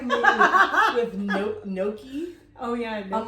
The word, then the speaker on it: gnocchi: That's like me with gnocchi. Oh, yeah. Gnocchi. I'm like, gnocchi. The G is silent.